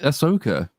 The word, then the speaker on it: Ahsoka: and then it'll be Ahsoka which will be great because it you know it rhymes with ass so there'll be plenty